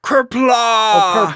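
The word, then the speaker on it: Qapla': It's It's pronounced like It's not exactly pronounced like that, but it it sounds a lot like the way it's pronounced. It sounds like kla.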